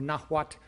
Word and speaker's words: Nahuatl: the Aztecs were one amongst many Nahua, or Nahuatl, N-A-H-U-A-T-L, Nahuatl-speaking peoples in the Central High Plateau of Mexico.